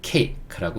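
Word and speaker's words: cake: 요거 A라고 읽는다 그랬죠. A. 그렇죠. A가 A라고 읽었습니다. 그 다음에 K는 크 소리. 그렇죠. 요것도 키읔 소리인데 더 이상 뒤에 맞아주는 모음이 없어요. 왜냐면 얘는 묵음이니까. 그렇죠. 그러니까 크 이렇게 됩니다. 그래서 요거는 케이크라고 읽는 거예요.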